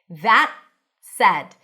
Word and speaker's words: that said: Make sure you stick the tongue out. And then the T is a held T that connects to an S. That said. So you don't really hear the T. It's like that said, as in cat.